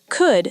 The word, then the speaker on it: could: In fast natural English, could sounds like cud, very short, could.